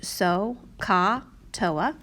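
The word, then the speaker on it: SOHCAHTOA: teacher had shown you this acronym that is pronounced so ka toa as a quick way to kind of remember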